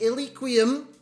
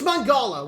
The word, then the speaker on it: Mangala: His name is Enquiries. Is that how you pronounce it? I've got no idea. Enquiries? It's Mangala.